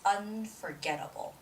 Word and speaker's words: unforgettable: the last word it's unforgettable unforgettable so unforgettable the stress goes on the syllable get unforgettable unforgettable so it's